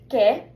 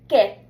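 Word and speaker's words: qué: So the pronunciation as already said is K. It's really nice and short. So let's just practice. Repeat after me. K.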